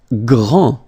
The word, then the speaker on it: grand: Grand. Final day not pronounced. Okay? G-R, gr. And then the nasal en.